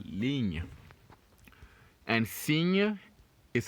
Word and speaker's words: ligne: Ligne. Ligne. Ligne. Good. So now we're obviously not going to pronounce the last E's for each of them.